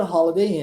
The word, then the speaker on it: Holiday: Então, at the Holiday Inn. Ficou claro? Vamos à pronúncia? Ó, o H que tem som de R, ó.